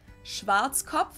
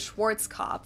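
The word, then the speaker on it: Schwarzkopf: the world pretty much in German we pronounce it schwat which literally means black head Schwartz COV English native speakers usually pronounce it Schwarz COV or Schwarz COV or something along those lines sounds about right Deutsche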